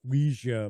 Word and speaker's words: Ouija: So here we've got a planchette, like for a Ouija board, or Ouija board, as some people refer to.